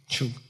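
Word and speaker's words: བྱུག: Chuk means to apply oil. B-Y-U-G. Okay? Chuk.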